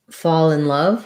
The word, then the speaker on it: fall in love: If so, it sounds like fall in love. We tend to link those two. The all has the aw sound.